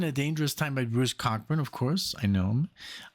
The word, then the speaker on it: Cockburn: I remember saying Cockburn, and everybody was like, "It's not pronounced that way." Well, why is it written that way? It's so funny. But no, it's Cockburn, pronounced Cockburn.